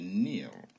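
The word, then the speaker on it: kneel: To near, ici, c'est near. Donc, near s'écrit avec K. Donc, si on fait K, N, 2 E, L.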